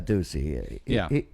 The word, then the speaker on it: Ducey: Ducey? Yeah, his nickname is Oh. Deuce. And it just rhymes with so much stuff like Goosey Deucey or, you know. Juicy. Juicy Deucey.